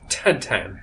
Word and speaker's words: Tintin: me and also uh it is in in France Belgium whatever yeah uh pronounced tan really yeah okay I